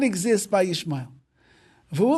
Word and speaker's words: Yishmael: So he says, if you look at the name Yishmael, so we pronounce it Yishmael, which is just like Yisrael, but those two dots are not under the aleph in his name, which is God's name.